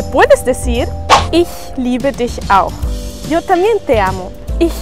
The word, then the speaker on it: auch: En auch, como la CH está después de una U, se pronuncia como una J.